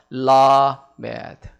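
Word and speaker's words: למד: 저거를 형상화해서 라메드 이제 그렇게 발음을 합니다.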